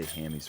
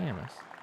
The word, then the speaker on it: Hammes: I've been hearing people say hammies for so long. Is it Hamus? I think it's Hamus, right? Hamus. So, why do people call? Is it a nickname? Probably just the way it's spelled throwing people off.